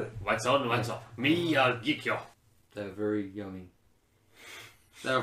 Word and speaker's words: Miyagikyo: Miyagikyo. Yeah, Miyagikyo. There we go. I've got it. What's on, what's off? Miyagikyo.